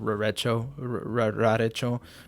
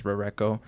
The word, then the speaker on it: Rarecho: This is Rareko, or Rarecho as some might pronounce it. For a time I pronounced it Rarecho, but I think the correct pronunciation is Rareko.